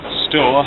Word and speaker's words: Stour: Here behind me is the River Stour, or Stour as some people pronounce it.